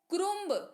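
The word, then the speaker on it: crumb: अगला है सी आर यू एम बी इसको क्रोम नहीं पढ़ेंगे भी भूलेंगे पढ़ेंगे ग्राम क्या पढ़ेंगे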